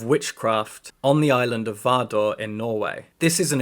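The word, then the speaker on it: Vardø: how you say it I think this little over the slash through it is kind of an or sound but Swedish and Norwegian people can correct me please anyway I'm gonna pronounce it vardor because I think that right The Witches of vardor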